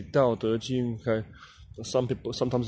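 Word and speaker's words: 道德經: the Dao De Jing, sometimes pronounced the Tao Te Ching or the Dao De Jing, you know, Dao De Jing, Tao Te Ching or Tao Te Ching. But in Mandarin, it's actually Dao De Jing.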